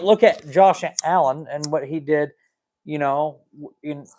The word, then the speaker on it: Josh Allen: They say his name without pronouncing his name properly, and I was sticking up for Josh. But all the media people were saying his name like it's spelled JAW space SHALLEN.